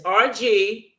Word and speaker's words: RG: Now, his name is RG. You can't miss that because I did ask him, "How do you pronounce his name?" Silly me. Didn't think it was initials.